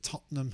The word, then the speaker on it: Tottenham: their full name is Tottenham Hotspur. So Tottenham. I don't think people usually call it Tottenham, just more like a Tottenham, and it's got a silent H. Tottenham Hotspur.